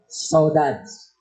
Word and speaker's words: saudade: So the title of our art fest is Saudades. So it's a French, Portuguese word. Kung basahin natin, saudade. Dami pronunciation.